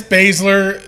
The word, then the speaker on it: Baszler: Yeah, it's Baszler.